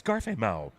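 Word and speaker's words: 加菲貓: It's Garfameo. And because the last syllable is Mao, Garfameo, the meow. The meow sound of a cat.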